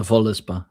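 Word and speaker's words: Völuspá: Uh, the va uh, Valispa, is is that how you say it? The Volispa.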